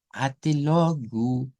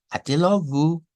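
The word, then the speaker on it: até logo: Y si lo vamos a decir en portugués, debe ser atelogu, atelogu, atelogu. Así que mucho cuidado con esta frase porque la estamos utilizando siempre al despedirnos en las clases y debemos pronunciarla así, con gu al final.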